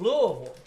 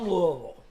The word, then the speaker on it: Louisville: guys and they flew into the city of Louisville yes and they Kentucky right in Kentucky and